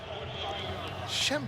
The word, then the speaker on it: Schembechler: Schembechler.